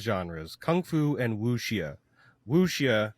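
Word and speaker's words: wuxia: Kung Fu and woia woia which rhymes with Lugia that's what I keep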